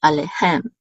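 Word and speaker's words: עֲלֵיהֶם: This is the accent mark for this word, and it's over the last syllable, so it's alehem, alehem.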